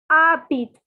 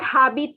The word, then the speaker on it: habites: your colored pen and please note that the H is silent and the S is silent. Okay. So it is not habites, it is not anything. It is not habites, it is not habite. The pronunciation is habit, habit, habit.